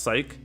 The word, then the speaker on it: Sice: Saisu, it's pronounced Psych.